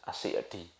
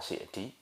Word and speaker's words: As-Sa'di: Wulida Syekhu Abdurrahman ibnu Sa'di, ada memang yang membaca kalau menurut pendapatnya Syekh Fauzan, Syekh Shalal Fauzan, sebagaimana pernah ditanya oleh Ustaz Dzulqarnain hafizahullah taala, itu bacanya As-Sa'di. Nah, makanya kalau antum pernah dengar yang membaca Sa'di, itu juga benar, tapi memang banyak pula yang menisbatkannya karena itu nama klan tadi, ada yang mengatakan dengan As-Sa'di namanya.